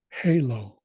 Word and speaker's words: halo: so that's glease H Halo pretty much the same pronunciation as in English but in this case